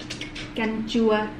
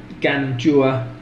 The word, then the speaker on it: canh chua: Canh chua. Canh chua.